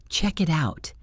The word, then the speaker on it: check it out: You rarely hear check it out. That sounds robotic. Instead, we say check-it-out. It sounds like chick out or check it out. The K sound at the end of check attaches to the it, and the T at the end of it attaches to the out.